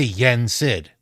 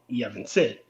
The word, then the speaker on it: Yen Sid: Yeah, they'd say Yen Sid. In the first game, he is called Yevon Sid.